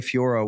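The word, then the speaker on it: Fiorot: It's pronounced Fioro for the record, not Fior.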